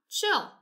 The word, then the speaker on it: chill: Chill, right? Chill. It has the CH sound at the beginning and it ends in a double L.